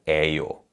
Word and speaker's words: 예요: Now, one thing to keep in mind is that in natural speech, the vowel 예 in 예요 is pronounced as 에요 rather than 예요.